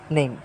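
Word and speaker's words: name: আপনার রিডিং উচ্চারণ সবকিছু সহজ হয়ে যাবে। এখন আমরা দেখি নেম। এই দেখো তোমার এন এমই নেম।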